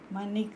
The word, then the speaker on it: Mannich: Anyway, I pronounce it as Mannich reaction.